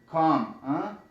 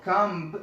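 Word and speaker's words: comb: مثلا ام بی راشي دلته د بی نه تلفظ کېږي. مثلا که زه وایم چې مثلا کام، نو دا به کامب یا کامب، کامب د بی به نه وایي، کام کام.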